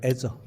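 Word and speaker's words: Azure: 보면은 MS 저라는 거예요 애저 발음을 저라고 부릅니다 ms's 만든 애저 아마존에서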